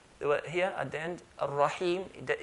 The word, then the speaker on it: Ar-Rahim: So they never used to say Bismillahir Rahmanir Rahimi, stop at Rahimi. So we're going to put mim sukoon, sakin. Ar-Rahim, Ar-Rahim, hold and let go.